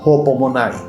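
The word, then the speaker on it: ὑπομονή: La misma se pronuncia hopomonai y sus sinónimos son tolerancia, perseverar y soportar.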